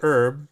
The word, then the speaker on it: herb: So the H is silent in the U.S. It's not silent in the British system.